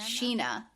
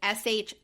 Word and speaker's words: Shinia: Sheena. Nope, Sheena. That's the way they say it. It is spelled like Shinia, which is not like a normal, but that's not how they say it. They say Sheena.